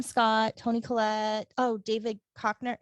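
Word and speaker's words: Koechner: tony colette oh david cochner how do you say his name kechner i believe okay cheetah pharaoh she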